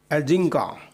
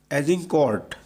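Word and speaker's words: Agincourt: अब battle of एजिंका शुरू होता है। ये एक फ्रेंच वर्ड है और इसका जो सही प्रोनाउंसिएशन है वो है एजिंका, जिसमें हर 5 फ्रेंच सैनिकों पर एक अंग्रेज सैनिक होता है।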